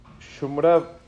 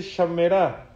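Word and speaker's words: שמרה: Pero hay una cuarta que no se dice Shomra, se dice Shamera.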